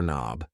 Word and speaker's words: knob: here is a door knob yes the K in knob is silent and these things here